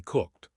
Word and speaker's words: cooked: However, for cooked, you must pronounce the k cooked.